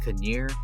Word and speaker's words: Knerr: All right, next up, Toby Knerr, or Toby Knerr, I heard is like the proper pronunciation.